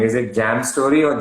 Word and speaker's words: J+AM Storey: you pronounce it like jam story basically we are two partners me janishi and my partner amit so uh m stands for his initials j stands for mine so it's like j plus m so we pronounce it